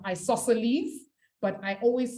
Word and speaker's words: isosceles: an isosceles triangle or a nice it's actually pronounced isosceles but i always say isosceles so that i can remember how it's spelt